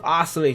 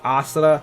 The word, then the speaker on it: Oscillator: the brand new hero, his name is pronounced the Oscillator. I know a lot of people, say it differently. People say Oscillato or Oscilli, which is Oscilli. I don't know how you say that.